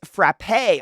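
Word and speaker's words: frappé: I mean it's that's my mom yeah it's pronounced frappe oh okay frappe you put the instant coffee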